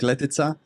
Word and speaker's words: Letica: name is you you said it right letia awesome 27 years old uh born and grew